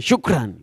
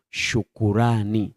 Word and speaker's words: shukrani: Hatuiti tena shukran. Wengi wao tunatumia neno shukrani. Shukrani. Sio shukran. Lakini ukitumia neno shukran maanake umeenda moja kwa moja kwenye matamshi ya kiarabu kwa sababu wao wanatumia neno shukr s h u k rwana yesu asifiwe. Ambalo linazaa shukran. Lakini kwetu sisi tunatengeneza kitu kinachoitwa shukrani.